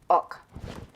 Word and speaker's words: Ock: He says it's pronounced like pork, but you take out the P, orc, and then you take out the R, Ock.